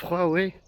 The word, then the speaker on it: Huawei: Oui, ça se prononce Huawei.